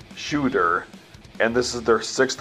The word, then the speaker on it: Tsjuder: black metal band called tis juter nah I'm just joking the band's name is actually pronounced like shooter and this is their